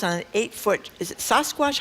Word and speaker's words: Sasquatch: who spent $300 on an 8-foot, is it Sasquatch? How do you say that? Sasquatch, yeah.